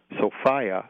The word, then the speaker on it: Sophia: a goddess who was called Sophia which is my pronunciation to kind of distinguish it from a woman's name Sophia okay and this got